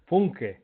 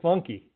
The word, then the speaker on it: Funke: Funke is Yeah, the right pronunciation. Funke. We say Funky.